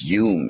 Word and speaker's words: Home: He's a Scottish, that's why it is pronounced Hume, actually.